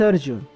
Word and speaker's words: Arjun: This is Arjun. Yeah, this is how his name is pronounced. I don't know what is wrong with the Western world adding an extra A behind every Indian name.